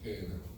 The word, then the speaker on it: Gehenna: Ok, en español algunos lo escriben G-E-H-E-N-A, G de gato, E-H-E-N-A, Gehenna.